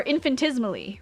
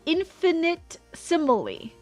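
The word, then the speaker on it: infinitesimally: And because when you read it, when you sound out the words, it's infinitimally, not infantismally.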